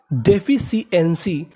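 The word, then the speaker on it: deficiency: और शुरुआत में लिखा है DE, तो इसे पढ़ेंगे डे, FI फी, डेफी, CI इसे पढ़ते हैं शी, तो पूरी मीनिंग डेफिशिएंसी, डेफिशिएंसी, डेफिशिएंसी।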